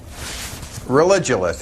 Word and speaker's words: Religulous: It's Religulous. It's like you're saying religion and then you go to ridiculous.